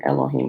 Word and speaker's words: Elohim: start it over actually i'm putting elohim it should be that's a pronunciation the proper pronunciation of it because there's no ease in the hebrew language right let me fix